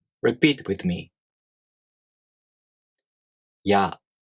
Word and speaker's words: や: For example, when you pronounce や, you first make the [i] tongue position but not fully pronouncing it. Then, the tongue quickly moves on to the next vowel sound. In this case, the [a] vowel sound.